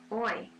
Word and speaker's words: hoy: Next one, repitan, hoy. Hoy means today. The H is silent.